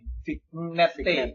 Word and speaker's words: vignette: Vignette itu tulisannya VIGNETTE. Vignette. Iya. Dibacanya orang sana tuh vignette.